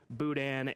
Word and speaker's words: Boudin: number three and uh Boudin right that's how this is pronounced Boudin the Louisiana dish are